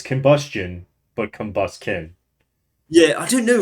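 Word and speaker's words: Combusken: This one, Combustion? That's not right. How do you actually pronounce it? Let's go. Let's look. Let's look at how it's actually spelled, Combuskin? Devon. Combuskin. That's how you do it.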